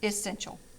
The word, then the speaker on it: essential: is essential essential okay it has three syllables e is actually instead of e is it essential essential so that e at the beginning actually has a um an i sound okay like i said